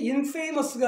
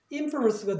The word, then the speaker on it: infamous: 것 중 하나가 있는데 이게 must가 마지막 음절이 되는 거예요. 그러니까 마지막 음절 앞에 모음이 있으니까 액센트가 일로 간다는 얘기죠. 그래서 발음이 infamous가 아니라 infamous가 돼요. 그러니까 액센트의 위치가 얘 때문에 결정된다는 얘기예요. infamous로.